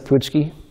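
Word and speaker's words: pączki: get a poochki do do you pronounce it poochki oh good I have a very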